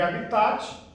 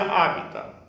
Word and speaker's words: habitat: Se escreve habitat, mas a gente pronuncia habitat, tá?